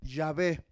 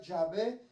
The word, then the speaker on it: Yahvé: ¿Sabía que la palabra Yahvé es una palabra que nadie podía pronunciar, pero le pusimos las vocales de la A y la E, Yahvé, para pronunciar que es, hermano, el existe, el